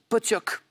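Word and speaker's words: pottok: Ça s'écrit Potok, mais ça se prononce exactement comme Paul l'a dit, Potioc.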